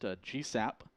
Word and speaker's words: GSSAP: space situational awareness program known by the acronym gssap pronounced gsap these gsap satellites provide